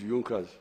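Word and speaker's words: Junker: don't know this European they write junas but they say yunas that the pronunciation is yunas these were I think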